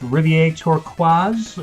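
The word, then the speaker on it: Rivière Turquoise: probably will with my bad French but it's pronounced Rivier turquaz or the Blue River Rivier toqua there you go um so it's the poisoned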